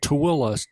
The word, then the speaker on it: Tooele: you're right and it's a town called tooele spelled t-o-o-e-l-e you would never get the pronunciation from the way the name of